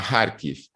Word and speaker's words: Kharkiv: Luego hay otro eje que sale de la propia Rusia, desde el norte-noreste, que sale en dirección a Kharkiv, que es, bueno, en función de cómo lo pronunciamos en ruso, en ucraniano, Kharkov, que es la segunda principal ciudad del país.